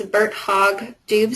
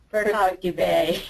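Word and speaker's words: Birt-Hogg-Dubé: and I'm not sure if I'm going to pronounce this correctly but it's Bert hog Dube syndrome Bert hog dubet okay um and so bird hog dubet is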